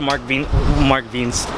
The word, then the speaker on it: Mark Wiens: Just watch a Mark Wiens. Technically, that's how you pronounce it.